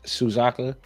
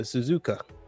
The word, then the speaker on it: Suzuka: Silence Suzaka. It's no Suzuka.